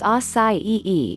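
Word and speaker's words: açaí: Acai, pronounced as acai-e, is a nutritious berry grown from a palm tree in the Amazon rainforest.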